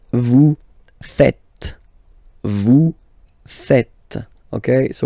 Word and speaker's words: faites: It's vous faites, vous faites. Okay, so remember final S here is not pronounced, and then this is not pronounced either. So, faites, faites, vous faites.